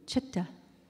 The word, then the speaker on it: Choctaw: was Cherokee, but were Choctaw and Chickasaw, or Chitta, which is the way we pronounce it, and Chicksa, who were brothers.